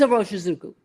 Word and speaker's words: Iroshizuku: But he knows how to say it because he asked someone from Pilot who is Japanese to pronounce the proper pronunciation of Iroshizuku. Iroshizuku. It's Iroshizuku.